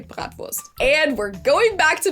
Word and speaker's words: Bratwurst: Most Americans say Bratwurst, or sometimes it's also shortened to just Brat. In German, we say Bratwurst.